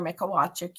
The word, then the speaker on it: Mikolajczyk: Um so, my name, everyone, is Mikolajczyk. You try to spell that last name.